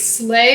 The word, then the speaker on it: sleigh: E. I, because it sounds like an A. Gotta go back to my phonics lessons.